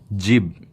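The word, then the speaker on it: جيب: Chiba okay in Arabic but Arabic people are very known for making the word very short so they usually cancel out the vowel so it pronounced there as Jib okay Jib so so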